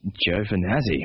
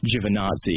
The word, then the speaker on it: Giovanazzi: He says Giovanazzi, which is the Australianized version of it, because I'm pretty sure after World War II, even people in Italian don't call it Giovanazzi anymore.